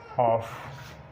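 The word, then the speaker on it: half: उसके बाद डी, एफ, के या एम से पहले एल साइलेंट होता है। एग्जांपल्स देखते हैं कौन सी हैं। एग्जांपल्स में मॉन, टॉक, कॉफ, कॉम, चॉक, फॉक, इसी तरह हॉफ, पॉम, समन, कुड, वॉक और शुड, वुड।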